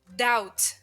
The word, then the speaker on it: doubt: middle elbow B elbow doubt doubt wait a minute why didn't I pronounce the letter B in this word h well because the letter B likes to sleep in silently before the letter T doubt doubt words that